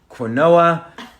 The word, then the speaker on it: quinoa: It's pronounced quinoa, and the audience usually laughs.